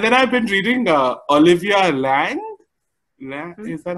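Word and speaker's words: Laing: And then I've been reading Olivia Lang.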